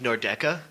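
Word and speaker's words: Nordecke: For one, the proper pronunciation of Nordeca. Doesn't matter. If you if you Nordec. care about how to properly pronounce it, Nobody it's cares. Nordeca.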